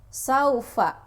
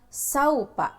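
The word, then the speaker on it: سَوْفَ: Kita ambil contoh saufa misalnya, saufa. Nah, jadi lunak saja kalian membacanya, tidak ada penekanan. Misal saupa, saupa, tidak seperti itu. Jadi tidak usah ada penekanan ketika membacanya.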